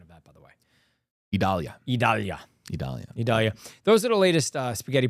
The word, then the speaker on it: Idalia: Is the correct pronunciation of that, by the way? Idalia.